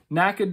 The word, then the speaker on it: NACA: and must remain unobstructed NACA ducts I don't know if you're actually supposed to say it or like spell it out but I'm gonna say NACA because it's easier our single source of